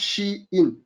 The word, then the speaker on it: Shein: Shopee, Lazada, and then if you realize number 4 is actually Shein. Okay, it's pronounced Shein.